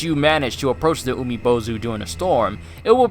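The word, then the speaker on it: Umibōzu: Pronounced Umibozu, a large and very strange-looking yokai that inhabits ocean waters.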